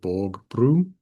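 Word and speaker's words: vägbro: So O is pronounced like a U most of the time. If it's not followed by two consonants, or if it's not just a small function word, like this word, generally just pronounced O, is and. But in a word where it's not followed by a consonant, or it's followed by only one consonant, in general is pronounced as U, brun, stewed.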